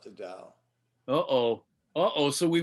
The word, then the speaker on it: Tao: different kind of dao this tao is spelled t-a-o and it's pronounced dao it's actually the dao